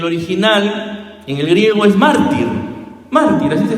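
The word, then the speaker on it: μάρτυς: Y la palabra testigo en el original, en el griego, es mártir. Mártir, así se pronuncia, mártir.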